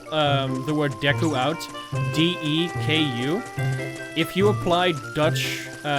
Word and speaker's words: Deku: correct pronunciation was deku which is what we would say if there were two k's in dutch so yeah you'll hear